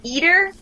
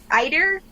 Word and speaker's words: Eider: is how do you pronounce this eer Eider it's e i d e r eer eer duck is his father who